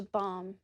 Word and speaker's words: balm: Bringing groups of people together has been such a balm for me. As you can hear, the word balm has the same long vowel.